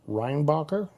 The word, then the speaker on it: Reinbacher: got Montreal in 26th uh they drafted David reinbacher is that correct you pronounced that correctly all right this time uh